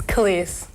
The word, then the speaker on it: Kelis: It's Kiss. Kiss. It's like K A. Well, I guess phonetically it'd be K A H L E S E. Yeah, but it's really just K E L A S.